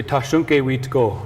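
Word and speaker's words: Tȟašúŋke: you say his name so in our language we say tashonke this monument is just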